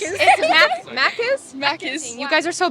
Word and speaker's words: Macca's: Macca's. Macca's. It's Macca's?